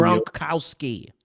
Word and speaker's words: Gronkowski: but he does have his binky as Rob Gronkowski. Come on, you can pronounce a Polish name better than that. I know you. Gronkowski.